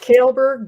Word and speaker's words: Kaalberg: barb we got harp it's pronounced kaleberg but i've i'll answer to hey you you know i